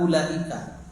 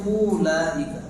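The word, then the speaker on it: أولئك: Secara tajwid bacanya ulaika. Enggak, tetapi ulaika. dibaca pendek.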